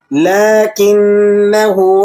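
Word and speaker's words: لٰكِنَّا: کی اصلاح کر لیں۔ آپ نے اسے بالکل نہیں کھینچنا بلکہ بغیر کھینچے اسے پڑھنا ہے۔ کس طرح سے؟ میرے ساتھ ساتھ ریڈ کیجئے گا۔ لیکنہ اللہ، لیکنہ اللہ ربی ولا اشرک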